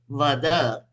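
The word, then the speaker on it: वद: The same word, if I say Vada, it will mean say. Vada. If I say Vad, it will become to kill.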